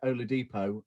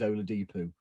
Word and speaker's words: Oladipo: a next row so instead of being oladipo it's always only depoo because i'm going to